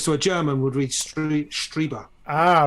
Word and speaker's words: Strieber: I think it was Strieber. I think you said to me it was Strieber because it's German, isn't it? I'm just following German pronunciation rules. I-E is pronounced E.